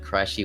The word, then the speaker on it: Krushee: And it was supposed to be named Krushee, but everyone fucking called me Krushee. I was like, fuck, I guess I'm fucking Krushee now. But it was actually supposed to be pronounced Krushee, but it's all good.